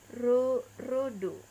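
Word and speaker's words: ロード: Nah, di dalam pelafalan road ini menjadi rodo, rodo. Jika ditulis dalam katakana rodo.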